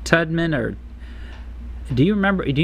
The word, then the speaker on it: Tubman: think of how you say her last name tman or do you remember do you know how to say her last name Todd who Harriet is it tman Tubman Tubman okay she felt like a nothing for